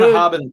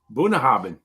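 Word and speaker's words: Bunnahabhain: impossible to don't know pronounce Scotch? That looks good. Bunahaben 12. Bunahaben.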